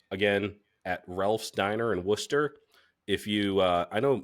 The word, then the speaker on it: Worcester: at Ralph's Diner and Worcester if you uh I know Massachusetts has some like weird Town names it's it's spelled exactly like the sauce and it's pronounced Worcester so I it gets